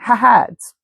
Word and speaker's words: haad: And it's spelled h a ds. That's why I'm pronouncing it hahads northeast of helium.